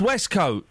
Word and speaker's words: waistcoat: Westcoat is pronounced Westcoat. No, if you go and see a coat hanging up, a waistcoat hanging up, it's spelled W-A-I-S-T.